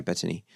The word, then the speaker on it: Bettany: Yeah, well, that's how Bettany, is that how I say her name? Yeah, Bettany.